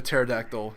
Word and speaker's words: pterodactyl: one can hear a pterodactyl use the bathroom give up because the p is silent yeah i know you